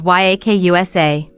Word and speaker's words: Yakuza: The worst possible hand in the game is 893, which in Japanese is pronounced as Yakusa.